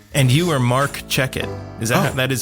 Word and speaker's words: Checkett: And you are Marc Checkett. That is how you pronounce it, right?